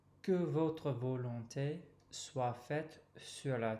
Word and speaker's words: sur: And then continuing with the next tricky part, pronunciation-wise, sur has that lovely U sound, okay?